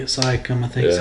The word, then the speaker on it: Siakam: Siakam, I think is how you say it. I think you're right. I can't pronounce it for sure, so I don't Pascal Siakam.